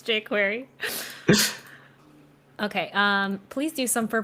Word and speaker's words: jQuery: It's pronounced jQuery.